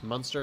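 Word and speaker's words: Munster: Monster is how you say it.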